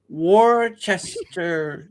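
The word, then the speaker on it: Worcester: it I know okay that's another one where we just skip a bunch of letters in the word and pronounce it totally differently to how it's spell war w Worchester is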